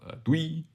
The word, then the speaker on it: doei: Well, as the Dutch way saying of doei, as in bye.